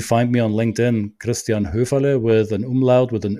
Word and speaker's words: Höferle: It's with the article, The Culture Mastery, or you find me on LinkedIn, Christian Höferle, with an umlaut, with an Ö. That is so hard to pronounce for a lot of people.